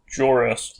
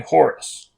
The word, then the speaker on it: Jorus: replies that he is jorus sabote and yes that is jorus with a j sound and not an h sound like horus now that means nothing